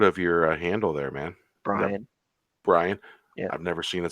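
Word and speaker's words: Brion: fun as always yeah man how do you pronounce the um the first word of your handle there man Brian yeah I've never seen it spelled that way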